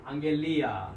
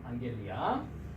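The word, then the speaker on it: ἀγγελία: 감마를 우리가 배웠으니까 앞에 감마는 어떻게 발음한다? 이응 발음을 합니다. 한번 발음해 보도록 하겠습니다. 자, 31번. 네, 그렇습니다. 앙겔리아, 그죠? 앙겔리아.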